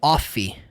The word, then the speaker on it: of: E aí outro erro é a palavra of, que as pessoas falam off. Não é off, é of.